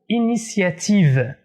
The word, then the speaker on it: initiative: la lettre s l'homo initiative initiative pas initiative le premier thé dans